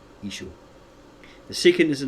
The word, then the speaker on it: Yeshua: Victor Alexander felt that the name of Joshua should be pronounced correctly. Yeshua.